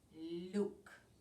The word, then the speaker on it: Luke: and then we have Luke with a silent e at the end so we have four